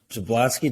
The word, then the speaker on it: Jablonski: us today we have Melissa Fanning and Natalie zablowski did I pronounce it right Natalie you did good I